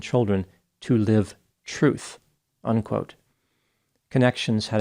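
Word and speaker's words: Connexions: mental health counselor who established a company called connections the name is spelled c n NE x i o NS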